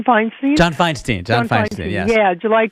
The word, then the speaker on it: Feinstein: John Feinstein.